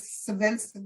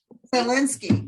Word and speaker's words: Zelensky: Thank God for the intel that from Russia that gave the president, what is Savinsky, how do you say his name? Zelensky.